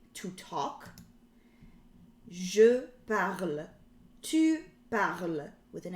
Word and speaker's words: parles: Je parle, tu parles, with an S. Il or elle parle, with E. Okay? So the S in the tu form is silent.